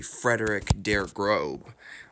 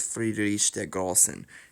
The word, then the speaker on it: Friedrich der Großen: But it was actually only recently that I learned that it was Friedrich der Großen. And it's actually because the big capital B in German actually means two S's. It's pronounced as two S's.